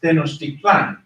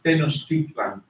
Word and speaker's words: Tenochtitlan: Tenochtitlan in Spanish is pronounced Tenochtitlan. Tenochtitlan, but in Nahuatl it's Tenochtitlan.